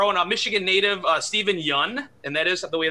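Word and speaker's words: Steven Yeun: you have our own michigan native uh steven yun and that is the way to pronounce it by the way steven yun uh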